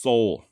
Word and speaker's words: Soule: even seen some spellings in old documents where the e at the end has an acute accent but according to the actual Soul family I'm talking silas's great great nieces and nephews it is pronounced Soul okay so if you've